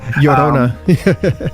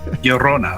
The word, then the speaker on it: Llorona: got kirsov yeah sorry Llorona is that how you say it yeah yeah Yona Yona all right also and